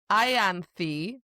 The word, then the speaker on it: Ianthe: So I looked this up and there's actually 2 versions of her name. It's Ianthe, which you're right.